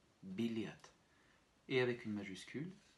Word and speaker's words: билет: avec une accentuation finale également. Encore une fois, B, I, L, Y, T, biliat.